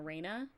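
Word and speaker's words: Rayne: So they decided to just switch the E and the A and so it's Rain, but it's spelled R A Y N E because it's Yeah.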